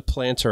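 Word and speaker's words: Plntr: loaded check the link below to get the planter app it's spelled p l n t r and um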